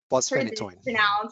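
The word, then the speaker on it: fosphenytoin: In the ER, the second line would be Keppra or valproic acid, or phosphenytoin. How do you pronounce this, Dr.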